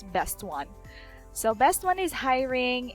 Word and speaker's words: Bestone: is best one or I was pronouncing it like Beast Stone last time but actually I realized that it's best one so best one is